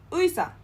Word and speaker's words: 의사: For example, 의사, 의사, 의, 의사.